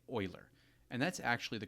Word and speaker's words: Euler: It's named after the Swiss mathematician Leonard Oiler, and his name is pronounced well, Oiler, just like the Edmonton Oilers hockey team. So, if it looks like Uler to you, you're definitely not alone.